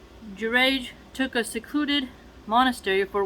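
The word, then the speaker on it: Juraij: who was a pious person so that name is spelled j u r a i j girage took a secluded monastery for worship and confined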